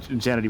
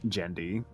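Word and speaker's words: Genndy: name jity tartakovsky jity I've always said like jity but I think it's actually jendi I think it's in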